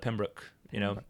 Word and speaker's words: Pembroke: Right, I think I probably said it more like Pembroke, but it's Pembroke. So he said Pembroke, correctly pronounced.